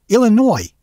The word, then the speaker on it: Illinois: Yes, my name is Illinois, and I need one airline ticket to, well, Illinois. Mm-hmm. No, the S is silent.